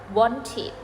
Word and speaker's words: wanted: นึง นะ คะ ตรง ที่ เรา จะ มี การ ออก เสียง พยางค เพิ่ม ค่ะ ยก ตัว อย่าง verb ที่ ลง ท้าย ด้วย พยัญชนะ เหล่า นี้ นะ คะ want กับ need want เติม ed ปุ๊บ ออก เสียง ว่า wanted wanted need เติม ed ปุ๊บ ออก เสียง ว่า needed นิิ สรุป นะ คะ